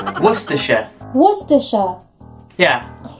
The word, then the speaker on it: Worcestershire: know if i'll get this we're cestershire worcestershire what's disha yeah i sound you sound really american particularly when i throw in the word shire because it's worcestershire oh this sound this seems easy mary the